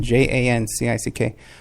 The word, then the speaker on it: Jancic: And you know, it's James Arthur Jancic, I think you pronounce it, Jancick, who does the voiceover on my, Socialist International there, you know?